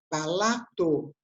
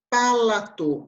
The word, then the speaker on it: palato: mais céu da boca a gente fala palato e não é paula tu em palato não tem acento então a gente fala